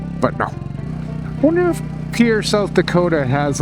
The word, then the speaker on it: Pierre: Ladybug informs me that it's pronounced Pierre, not Pierre, as in the French Pierre, but more like Pierre.